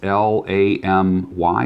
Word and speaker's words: Lamy: Everything from a Pilot Metropolitan to a Lamy, I guess it's L-A-M-Y, is that the name of it? Lamy, that's how you say it, which was clear.